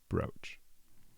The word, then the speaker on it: brooch: Uh the second one with the O with the line over it is brooch. Long O, brooch.